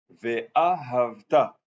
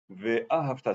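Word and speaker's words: ואהבת: Ve'ahavta. Il faut mettre sur le sidour l'accent tonique sur le Ve'a et ensuite Havta. Sur le Ta, Ve'a et le Ta à la fin. Ve'ahavta, c'est pas difficile, mais il faut s'en rappeler.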